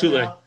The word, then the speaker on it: Thule: It's not Thule or Thule or Thor or whatever. It's Thule.